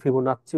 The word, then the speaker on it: ফিবোনাচ্চি: তার নামই তার ডাকনাম ছিল ফিবোনাকি, বা অনেকে ফিবোনাচ্চি উচ্চারণ করে।